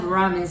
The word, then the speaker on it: ramen: ramen oh i love ramen so much but ramen um remember r we don't have the r sound in japanese so we uh we pronounce it like l right so we said